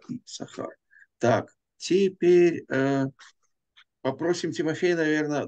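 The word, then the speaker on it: יששכר: Ну, я напоминаю вам, что имя Иссахар пишется с двумя буквами син, но произносится, как правило, одна буква Иссахар.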